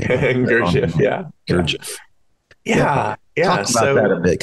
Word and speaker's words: Gurdjieff: and your reference to Cynthia and Gerdorf, or however you say his name. Gurdjieff.